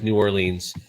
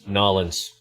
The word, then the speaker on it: New Orleans: in the north when you pronounce it as new orleans because when you get down there they're going to tell you right seriously it's nollens yeah that's just how